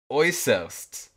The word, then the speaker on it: Äußerst: I can in German, I would pronounce it Äußerst. Oh. Yeah, Äußerst. Äußerst. Like... I'm going to say Äußerst. Yeah. Oh my gosh, it sounds like oyster.